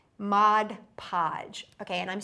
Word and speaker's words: Mod Podge: Remember, mom and dad always used to call it Modge Podge. When we were growing up our parents called it modge podge. But we got in trouble by lot of people saying its Mod Podge.